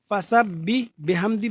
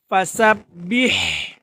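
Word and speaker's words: فسبح: ফাসাব্বি বিহামদি বললে সম্পূর্ণ ভুল হবে। তাহলে কিভাবে পড়তে হবে? ফাসাব্বিহ, ফাসাব্বিহ বিহামদি, ফাসাব্বিহ। আবার পড়ুন, খেয়াল করুন, সবাই মনোযোগ সহকারে খেয়াল করতে হবে।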